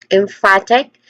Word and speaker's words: emphatic: So there are three distinct sounds here. Let's start with M again. M. Next to that is fat. Fat which has a short a vowel sound and then egg short e vowel sound.